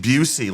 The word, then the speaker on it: Bucy: My name is Bucy. Busey, like Gary, but not spelled the same. No, I got a C. Okay. It's kind of an S.